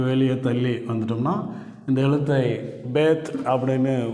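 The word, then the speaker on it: בית: நிறுத்தாம கொஞ்சம் அப்படியே வெளிய தள்ளி வந்துட்டோம்னா இந்த எழுத்தை பேத் அப்படின்னு உச்சரிக்கிறோம்.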